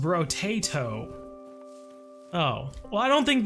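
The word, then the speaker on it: Brotato: Is pronounced bro-tato.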